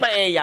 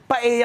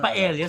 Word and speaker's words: paella: Pwedeng gawin yung Paeya pero sasampalin ko. Anong Paya? Paeya ang pag-pronounce sa Paella gan ba? Oo. Paeya ang galing mo doon. Ang yung paella silent L.